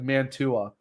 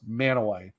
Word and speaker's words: Mantua: Because for like Manaway, it actually looks like Mantua, like Mantua, but it's pronounced Manaway.